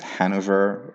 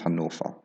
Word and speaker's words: Hannover: Hamburg, Hamburg Hauptbahnhof, not Altona, and Hannover, which is not actually pronounced Hanover or Hanover in German, it's Hannover. Suchan.